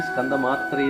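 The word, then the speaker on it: स्कन्दमात्रे: സ്കന്ദമാതാ യശസ്വിനി ഓം ദേവി സ്കന്ദമാത്രേ നമഃ മന്ത്രം ജപിക്കുമ്പോൾ ഉച്ചാരണത്തിൽ ഒരു കാര്യം ശ്രദ്ധിക്കണം സ്കന്ദമാത്രേ എന്ന് തന്നെ പറയണം മുൻ ദേവിമാരുടെ മന്ത്രങ്ങൾ പറഞ്ഞതുപോലെ മാതായെ എന്ന് പറയരുത് സ്കന്ദമാത്രേ എന്ന് പറയുക ഇവിടെ ഓം ദേവി സ്കന്ദമാത്രേ നമഃ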